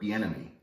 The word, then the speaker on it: Bieniemy: Told you the coach he wanted in Eric Bieniemy. Did I pronounce that correctly?